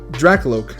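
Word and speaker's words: Drakloak: how you pronounce it no drak Alok is how you pronounce it drak lok is the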